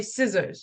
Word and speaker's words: scissors: okay you you say you spell it like that but you say scissors you don't say the C scissors season let's say from